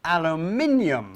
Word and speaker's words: aluminium: We call it aluminium foil.